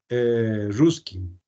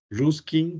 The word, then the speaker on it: Ruskin: y el otro es ruskin Sí ruskin con k estos dos personajes eh